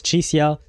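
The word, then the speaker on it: Chixia: Okay, since Yangyang, Baija, and Zhezhe are pronouncing her name as Chisia, I'm going to go with that version.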